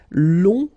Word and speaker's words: long: Okay, so long, remember you don't pronounce the final G, will become longue.